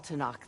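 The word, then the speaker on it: Tenakth: All Tanakh seek to follow their example. Well, they do pronounce the K.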